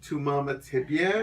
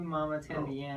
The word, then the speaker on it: Mamá También: it's what I think it's pronounced like et tu mama tambien baby we're Canadian so